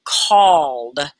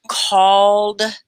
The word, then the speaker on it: called: you say that word called call oh yeah it's just one syllable called you don't say it call ed yeah a lot of people will say that e.d separate and sometimes it is